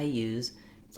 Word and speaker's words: use: to be aware of, to know that it's a Z sound when you're using it as a verb.